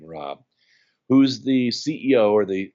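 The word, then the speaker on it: Raab: Fred Rob spelled our AAB his pronounces his last name Rob who's the CEO or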